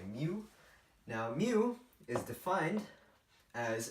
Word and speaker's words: mu: Now the Mobius function, denoted with the Greek letter mu, and a lot of people pronounce it as mu, but like a cow would, but I don't like that. I say mu.